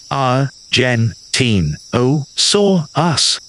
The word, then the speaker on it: Argentinosaurus: in Argentina its name means Argent lizard to pronounce Argentinosaurus repeat after me Artin o s us wonderful try it one more time a gen te o s us fantastic the map of the world in the